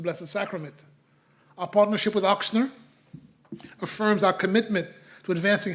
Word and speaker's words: Ochsner: the establishment of the oxner Xavier zavier Oxon College of Medicine exom get used to that pronunciation ox and